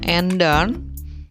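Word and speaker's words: ändern: Nah, kenapa bacanya enden? Kita di materi nomor 1 sudah sudah belajar, yaitu mengenai A.2. A.2 adalah A umlaut, maka kita harus membacanya enden, yang artinya adalah berubah atau merubah.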